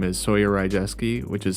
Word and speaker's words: Rydzewski: on all streaming services my name is soer R jeski which is spelled r y d z wsk k i